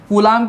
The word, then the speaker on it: Coulomb: कूलाम की spelling होती है COULOMB।